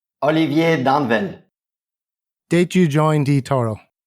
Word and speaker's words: Danvel: the copy traders lounge your surname is danville not pronounced dawnville i keep getting that wrong prior to hearing you say it yes in in french i should say danvel english i say danville like people can say